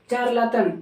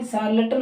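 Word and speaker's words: charlatan: चारलाटन नहीं, सार्लटन होता है ठोंगी ढंग।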